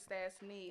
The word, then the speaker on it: Stasseny: So Stasseny down south is Stasseny. I'm Okay. Stasseny. You Stasseny. Okay, Okay, bad. 3 syllables, not 2. Gotcha. That's what I remember. Yeah. E-N-Y, not N-E-Y.